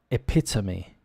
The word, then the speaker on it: epitome: would you pronounce that epitome epitome often if you break it down this e probably sound like an ER epitome and we say things quickly it's a very common sound in English epitome and the epitome